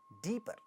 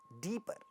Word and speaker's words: deeper: This word deeper, deeper. at the end of the, so first syllable is stressed, at the end of the syllable there is a pa sound, but this doesn't get aspirated.